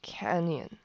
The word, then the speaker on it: Canyon: 点发懵，读的呢是 Canyon，这个 Y 呢，在这边